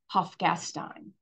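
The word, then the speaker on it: Hofgastein: town where the red uh star is named hofgastine and that spelling is very small it's right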